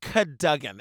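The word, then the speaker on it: Cadogan: amazing yeah i'm excited catagen hall pronounced cadugan it looks like captain but it's contagion oh i love it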